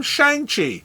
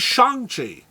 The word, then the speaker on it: Shang-Chi: Since the 60s, we've been calling him Shang-Chi. But last year, we found out he's Shang-Chi.